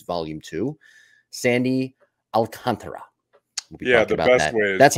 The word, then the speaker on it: Alcantara: an ace volume I think it's volume two Sandy Alcantara yeah the best way that's how you say his name by the way not Sandy alcantra it's Sandy Al Sandy Alcantara very nice Jim the best way here do